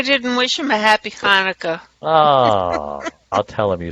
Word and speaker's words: Hanukkah: middle eastern i said she's not pronouncing right it's hanukkah you gotta say it right but i'm glad you